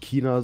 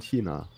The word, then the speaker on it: China: Chemie für mich ist ein ch wird als ich ausgesprochen also heißt es für mich nicht China sondern China aber gut das ist